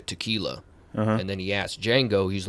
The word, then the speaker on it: Django: and then he asks django he's like oh you know what's your name how do you spell it and uh you know django was like you know dj you know the d silent and he goes i